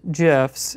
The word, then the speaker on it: GIFs: So it's pronounced GIFs. It's you know, whatever you feel most comfortable with. I feel most comfortable with being correct.